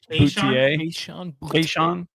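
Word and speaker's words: Boutte: Keyshawn Boutier.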